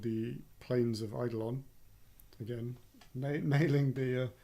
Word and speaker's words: Eidolon: An upcoming expansion called the Plains of Eidolon. Again, nailing the pronunciation. Eidolon? It's Eidolon. I watched the video. It is Eidolon.